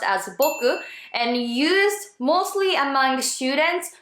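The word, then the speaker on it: 僕: the time of Meiji era it was already pronounced as Boku and used mostly among students who were also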